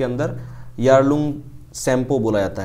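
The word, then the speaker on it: Yarlung Tsangpo: को तिब्बत के अंदर यारलंग शैंपो बोला जाता है ठीक है टी साइलेंट है यहां पर यारलंग शैंपो बोला जाता है यारलंग शप बोला है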